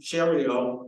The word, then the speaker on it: Cherio: In addition to Sam, we have Cherio, and because I pay attention to her ex bio, Twitter, rhymes with Ontario, right? It does.